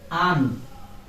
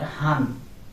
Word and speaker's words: han: An. There is a H at the beginning of the word, so it will not be pronounced an, not han. An, an.